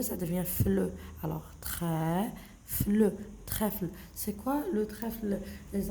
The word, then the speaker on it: trèfle: Le E, l'accent vers la droite. On le prononce E.